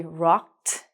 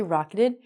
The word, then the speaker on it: rocked: We have to say rocked. It looks like rocketed. We don't say rocketed. We pronounce it like T.